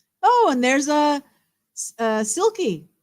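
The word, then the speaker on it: sylkie: and there's a uh silky silky as in I spell it s y l k i e like this which is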